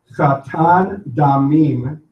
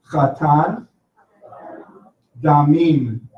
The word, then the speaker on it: Chatan Damim: Chatan Damim, bloody bridegroom. Can you say Chatan Damim? Now the word Chatan begins with the Hebrew letter Chet, which is pronounced.